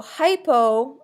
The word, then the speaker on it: hypo: So hypo is a prefix that means under. Hypo rhymes with low.